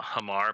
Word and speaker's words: Hama: so for also a hamar peshar and yahani well no not yamaha uh that's what it is how do you say it it's h-a-m-a hama pishar ruin seeker it's the